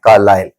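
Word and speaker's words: Carlisle: ये ऐसे तो आपका ISLE है, लेकिन इसका प्रोनाउंसिएशन होता है कार्लाइल, कार्लाइल English sorry Indian school.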